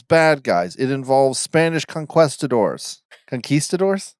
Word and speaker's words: conquistador: It involves Spanish conquistadors. Conquistadors? How do you say it? Conquistadors. Conquistador, because it's quest.